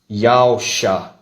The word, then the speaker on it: Yahusha: Na regra do hebraico antigo, toda a palavra que começa com a letra hebraica Yad se pronuncia Yah.